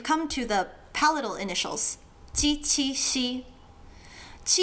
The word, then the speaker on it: ㄐ: Ti is like a genie without the knee.